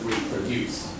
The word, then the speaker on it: reproduce: Remember for this word, it's very easy on the last syllable. So reproduce.